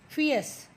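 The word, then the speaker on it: fierce: हैं royal fortune teller फियस इसमें are silent होता है बेटा फियस उगर वेरी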